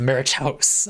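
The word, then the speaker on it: macuahuitl: Maquahudal? Maquahudal? That's almost certainly absolutely terrible. Pronounced Marichaus.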